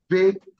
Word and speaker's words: visit: The S is pronounced as Z. So the word is vi. I didn't say V, I said vi. Visit, visit, visit.